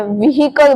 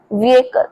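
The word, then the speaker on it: vehicle: हैं व्हीकल बोलते हैं बहुत सारे लोग बट इसे सही तरीके से बोलते हैं व्हीकल। विकल। तो यहां पर एच का साउंड प्रॉपर नहीं आएगा। ठीक है? उसके साथ ए का साउंड आएगा थोड़ा सा। सो आपको बोलना है विकल।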